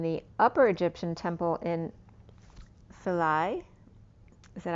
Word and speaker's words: Philae: It's Philae, or Aglilica.